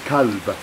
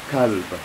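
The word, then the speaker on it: كلب: And they are pronounced very similarly, except for the first letter is different. So the dog is kalb, kalb.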